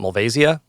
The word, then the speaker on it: Malvasia: grape called malvasia Bianca some people call it mulvasia I'm not sure exactly where to put all the accents sometimes I put the accent on their you know the emphasis on the wrong syllable but um yeah this